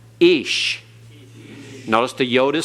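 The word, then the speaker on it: אִישׁ: ate ahmer he said ish notice the yode is silent it's not a y sound it's the hirik yod and so it is pronounced ish notice edits has a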